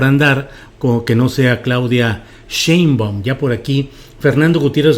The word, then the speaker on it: Sheinbaum: que no sea Claudia Sheinbaum. Ya por aquí Fernando Gutiérrez Ramírez en el chat me dice, amigo Julio, te ves muy silvestre diciendo Sheinbaum, es Sheinbaum, te ves muy de San Luis.